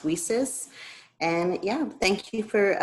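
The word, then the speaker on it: WiCyS: president of women in cyber security pronounced weases and yeah thank you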